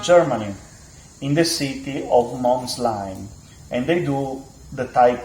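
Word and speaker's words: Molsheim: their headquarter to Germany in the city of Mslime and they do the type 57. I hope I pronounced that correctly guys. I I really Molshim Moheim Mheim.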